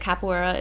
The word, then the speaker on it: capoeira: I just realized capoeira is pronounced phonetically correct with the phonetic Japanese language. Capoeira.